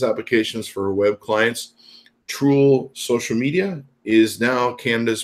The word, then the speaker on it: TROOL: That's TROOL, not troll.